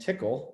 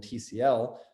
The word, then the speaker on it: Tcl: a lot of science i learned how to pronounce my sequel and tickle that it wasn't mysql and tcl so that was cool